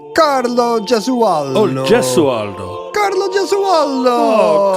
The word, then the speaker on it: Gesualdo: I think it's a soft G. Carlo Gesualdo.